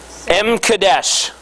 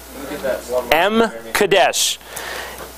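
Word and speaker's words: M'kaddesh: actually looked this up this is how you pronounce it but it's not how it's spelled m e k o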